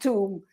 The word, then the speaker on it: tomb: And why is the sound tomb? I said, it's the only word in English where the O sounds like a U.